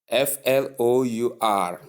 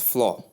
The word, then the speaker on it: flour: The same way you pronounce the word f l o w e r. That's the same way you pronounce the word flour.